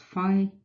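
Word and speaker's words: φ: Well, that number, pronounced phi, is the famous golden ratio, which is defined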